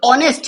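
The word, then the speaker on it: honest: यह है हमारा भवेल लेकिन एच तो हमारा साइलेंट है एच क्या है साइलेंट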